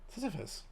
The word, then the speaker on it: Sisyphus: Sisyphus.